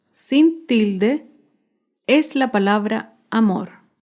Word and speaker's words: amor: tilde es la palabra amor. Amor se acentúa en la última sílaba, pero no lleva tilde porque no termina ni en vocal ni en las consonantes N o S.